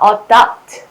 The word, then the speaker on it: adopt: 자, adopt, adapt. 뜻으로 구별하라더니 왜 발음을 이렇게 써드리는 것일까요? 자, adopt, adopt. 어른답게, 어른답게 라고 기억해 주세요.